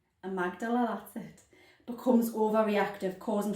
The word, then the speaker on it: amygdala: And in PTSD, the amygdala, I said it right, amygdala, that's it, becomes overreactive, causing frequent or near constant high levels of stress hormones.